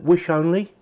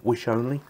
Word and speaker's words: Wissonly: feel quite nice actually it's called is that wish only I'm saying that's how it's pronounced wish only and the accessories which